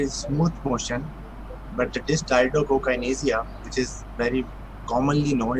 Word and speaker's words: dysdiadochokinesia: And this another co is important because dysdiadochokinesia is also a commonly mispronounced way to say this. So remember, there is a co too.